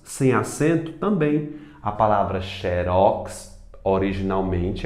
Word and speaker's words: xerox: E xerox, sem acento também, a palavra xerox originalmente é uma marca, né? Xerox, xerox, mas todo mundo pronuncia como sendo paroxítona, xerox, tá certo?